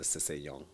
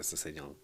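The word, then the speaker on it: SsangYong: I thought it was Sanyong. Okay. Like you don't say the double S.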